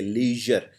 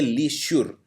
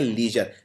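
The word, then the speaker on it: leisure: इ आई ली यर और इसमें जो जर है ये श्योर नहीं है ये जर बोलते हैं इसे लीजर तो इसको ये नहीं बोलते लीशुर इसको बोलते हैं लीजर लीजर मतलब आराम अगला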